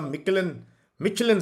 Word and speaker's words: Michelin: Ikra, hey sir, you are awarded the Michelin star. Michelin is the correct pronunciation.